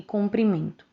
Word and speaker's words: comprimento: as palavras cumprimento e comprimento Como podemos ver é uma única vogal que muda a pronúncia e o significado da palavra a palavra cumprimento com